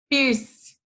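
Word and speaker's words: Peirce: fogão nessa apostila de filosofia é o charles pierce mas como que a gente pronuncia tem a pronúncia aqui no cantinho da nossa tela então é charles pires tá bom oi e aí ele era um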